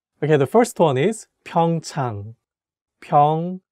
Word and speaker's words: 평창: the correct pronunciation is 평창 (pyeongchang). So you have to make sure to say “a” sound clearly in the second syllable like 평창 (pyeongchang), That’s